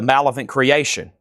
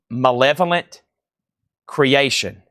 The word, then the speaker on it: Malevolent Creation: Every time I mispronounce it, Paul's correcting me. We have a 2024 translucent blue vinyl with insert. This is malevolent creation. Malivant creation. Male malevolent creation.